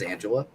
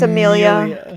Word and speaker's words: Amelia: And who the fuck is Angela? You say her name wrong every time. It's Amelia.